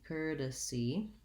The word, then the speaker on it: courtesy: to help you courtesy courtesy has first syllable stress and even though it looks like the word court which is something we recently covered in a video about horse course and court it sounds like curt so it has the